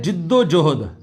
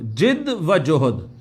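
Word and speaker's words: جد و جہد: अच्छा, ये लफ्ज आमतौर पे बोला जाता है, इसको कुछ लोग जद्दोजहद कहते हैं, पता नहीं क्या क्या कहते हैं। तो ये है जिद्दो जोहद, जिद्दो जोहद, जिद व जोहद।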